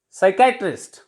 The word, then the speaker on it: psychiatrist: Next is psychiatrist. Psychiatrist. Here our P is silent before S, and in the word pneumonia, P is silent before N.